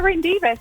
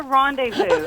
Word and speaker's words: rendezvous: It's a Rendivas. He goes, that's a rendezvous.